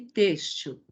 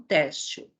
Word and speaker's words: têxtil: Útil, amável, nível e têxtil, que é a forma correta de se pronunciar, e não têxtil, certo?